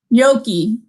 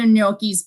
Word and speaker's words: gnocchi: Jean is asking, I know, Jean is asking, does Jennifer use potatoes or ricotta cheese with her, how do you pronounce it? Gnocchi.